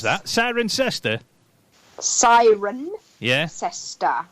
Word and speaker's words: Cirencester: How do you pronounce that? Cirencester? Cirencester.